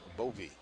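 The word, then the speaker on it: Bowe: play by bovee movie spells the name b-o-w-e but it's pronounced bovee that's four on marcelo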